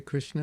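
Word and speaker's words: Krišna: How do you say Krishna in Lithuania? Kaip vadinasi Krishna lietuviškai? Krishna. Yeah, I guess we just don't roll the R. The rest is like in Sanskrit. Krishna. Krishna. Hare Krishna.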